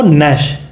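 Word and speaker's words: gnash: एन ए एस एच तो इसका जो प्रशन होगा वो नश नश होगा जिसका मतलब होता है गुस्से में दांत पीसना तो यह अब इसम देख जी साइलेंट है क्या क्या मतलब था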